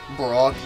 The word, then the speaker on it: Brock: Get it? Brock? It rhymes with rock.